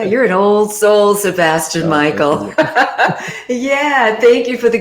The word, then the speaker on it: Mikael: facebook but yeah sebastian michael um and it's michael with a k2 so i know a lot of people they don't know how to well they see the case pronounce it yeah right yes